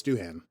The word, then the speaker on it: Doohan: It's Doohan. Okay. Yeah, with an H.